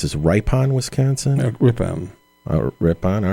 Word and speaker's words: Ripon: I think this is Ripon Wisconsin Ripon oh Ripon all right I knew I was saying it